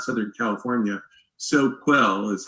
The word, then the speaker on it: Soquel: SoCal right yeah so well not Southern California Soquel is how it's spelled s o qu oh okay we call